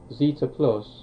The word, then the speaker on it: Z3TA: Now Zeta Plus, which is spelled Z3TA, is meant to be really great according to people.